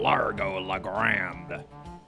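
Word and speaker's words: Largo LaGrande: Remember, wherever you go, on sea or on land, you can't ever hide from Largo La Grande. That's nice that they teach you how his name's pronounced.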